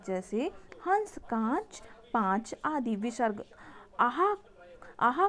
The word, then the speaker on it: विसर्ग: विसर्ग, आहा को विसर्ग कहते हैं। इसका उच्चारण हल्के हा जैसा होता है।